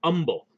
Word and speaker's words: Humble: you're ever in texas they don't pronounce the h it's humble so um sorry you're